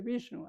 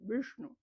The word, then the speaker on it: Vishnu: Vishnu es hacia atrás también, no se dice Vishnu. Aquí digo Vishnu, pues para hacerlo más sencillo, más fácil, ¿no? Pero se dice Vishnu, ¿no?